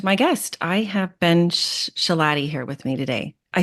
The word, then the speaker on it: Schilaty: I have Ben Shalatti here with me today.